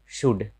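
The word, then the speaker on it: should: एल के बाद अगर ये सब रहे तो एल का उच्चारण नहीं होता है, जैसे शुड, एल के बाद डी है।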